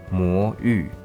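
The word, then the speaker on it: 魔域: Its actual pronunciation is mo yu.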